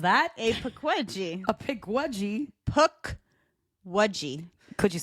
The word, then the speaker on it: Pukwudgie: a paji a paji PUK waji could you spell that for me p p u k w u d g i e like a puck like a hockey puck and then a wedgie a p wedi yeah